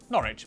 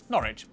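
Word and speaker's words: Norwich: stir Lester wer gler w at the start of the final syllable is silent norch Beric s e r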